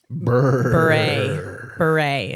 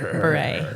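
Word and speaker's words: Bure: Candace Cameron Beret is how you say it. Beret.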